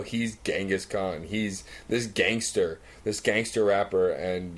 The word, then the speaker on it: Genghis Khan: So, that leads us to Genghis Khan. Stress on the gang, because that's how it's spelled.